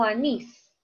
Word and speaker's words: anís: Anís o anís. Ah, anís. ¿Cierto? Termina en S.